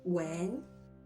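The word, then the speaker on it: 吻: It can be pronounced as when, and it can also be pronounced as when.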